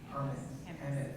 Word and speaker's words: Hammes: Michelle Hammes, how do I pronounce? Hammes, thank you.